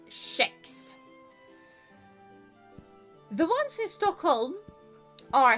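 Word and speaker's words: kex: It's spelled k e x and it is pronounced shex.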